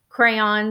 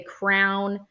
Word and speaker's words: crayon: I say crayon. Some people say crown.